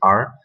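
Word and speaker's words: 二: Donc 1 c'est I en chinois, et ça s'écrit avec une barre, et 2 ça se dit R, et ça se traduit avec 2 barres.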